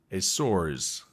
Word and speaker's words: Açores: Hello, all my diving fans, and welcome to dive number 1 of 4 in the Azores, or as the Portuguese pronunciation is, Açores.